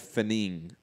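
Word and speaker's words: Fenech: Fat Apple saying it's pronounced Jeff Finning, spelt Finetch. 60 seconds. Thank you. Because it's Finning, Jeff Finning.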